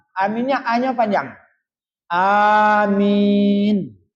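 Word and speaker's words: آمين: Ghairil maghdubi alaihim waladdallin amin. Aminnya A-nya panjang. Amin. A-nya panjang, min-nya panjang.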